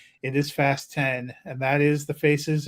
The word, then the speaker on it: Fast X: I love that the Press agents for the studio sent us a thing it should be pronounced fast 10 and not fast X switch I saw that